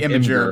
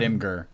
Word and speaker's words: Imgur: actually Imager, but yeah, I think it's supposed to be Imager, but most people call it Imgur.